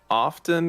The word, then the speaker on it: often: time i think it's often or oh no i i don't know it's either it's in my head it makes sense okay sean say it off often i i usually don't pronounce the t like if i'm speaking